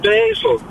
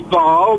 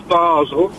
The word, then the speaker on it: Basel: She still said she still said basil. Sort down. Right. Hang on. The French is bar. The German is Basel. What on earth is Basil?